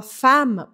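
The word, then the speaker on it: femme: deveria ser ela fama fama se escreve Fema mas a gente fala fama por causa dos dois MS esses dois MS fazem com que o a Abra o som anterior e Fama significa ao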